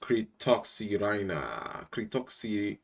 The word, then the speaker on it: Cretoxyrhina: And then when they're hungry again, they come back and it's pronounced Kritoxirina.